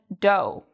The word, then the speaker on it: dough: So O-U-G-H sometimes is pronounced like O. What are some other words that have this pronunciation? We have although, thorough, and dough.